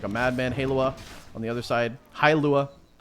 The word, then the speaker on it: Hailua: His name is pronounced Hailua.